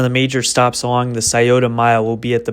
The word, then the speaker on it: Scioto: All right, this guy needs to learn how to pronounce words better. It's the Scioto Mile. But anyways, the Scioto Mile is a river walk located right in